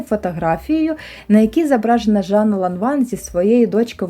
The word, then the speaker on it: Lanvin: Французьку назву ланван багато хто вимовляє на англійський манер абонвін, або ланвін. І це начебто вважається неправильним, бо в французькій мові ця літера і - це щось посереднє між а та е.